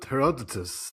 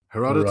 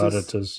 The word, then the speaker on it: Herodotus: Heroditus. You can pronounce that correctly as well. Herodotus. Herodotus.